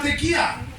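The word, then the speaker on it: tekía: El primer shofar, uno de los más importantes, de los 4 importantes, se llama tequía. Tequía, con K, acento en la I. Tequía, tequía.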